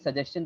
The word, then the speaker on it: suggestion: now suggestion that uh the Joe sound is also there because it's a double G similar just like with the axis there's a double C so you pronounce it like that access the curve sound comes similarly with suggestion that Joe sound is also their suggestion and uh here's this there's the chill sound I've written it like this sound is